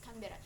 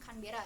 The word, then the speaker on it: Canberra: Oh, you can say if I pronounce it wrong, but yeah, it's Canberra.